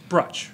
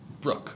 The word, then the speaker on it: Bruch: it so right now brush right it's Brooke I know god dammit